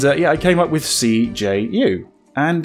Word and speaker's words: CJU: blown some people's minds by pronouncing it cju instead of siju or kaju or something like that another pronunciation that's how it's meant to be pronounced as i'm saying the letters like it's an acronym because it kind of is it's the initials of